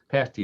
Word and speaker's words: pasty: called a pasty i think a past pasty pasty is the way it's pronounced kind of like a hot pocket only